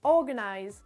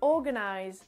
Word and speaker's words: organize: Ensuite, nous avons le mot organize, organize, organize. Là, pareil, l'accentuation est sur la première syllabe, donc c'est le O, et tout ce qui suit, c'est quelque chose qu'on va entendre un petit peu moins.